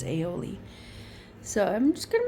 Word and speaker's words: aioli: Russ says aioli, which is not how you pronounce it. It's aioli.